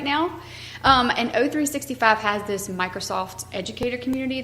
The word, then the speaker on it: O365: The Microsoft Educator Training, it's O365, how you say it? O365, because it's the letter O, Office 365.